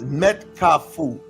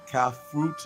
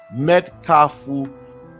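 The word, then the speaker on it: Mèt Kafou: saying that happens it's met kafu that's not the pronunciation CA fruit no met kafu um basically what does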